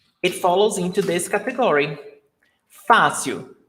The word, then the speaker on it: fácil: Fácil. The stressed syllable is before last.